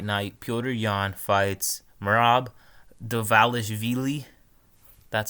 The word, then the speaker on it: Dvalishvili: weekend's UFC Fight Night pyder yawn fights marab devalis Veely that's how you say his name yeah you